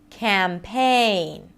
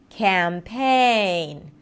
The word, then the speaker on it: campaign: It's a secondary stress. It's not reduced. Campaign. Campaign. Da-da. Da-da.